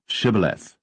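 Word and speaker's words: Shibboleth: said they unto him say now shth and he said Sith for he could not frame to pronounce it right then they took him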